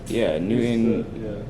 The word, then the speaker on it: newton: That's the SI for, Yeah, you're saying it right. It's Newton.